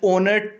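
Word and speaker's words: honour: next question है हमारे पास ही is dash ओनर टू his profession, तो आपको पता है जो यहाँ पे ओनर है यहाँ पे जो एच है वो साइलेंट है, तो जहाँ पे एच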